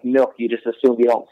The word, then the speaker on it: Milke: the proper pronunciation of my last name is milky and the proper pronunciation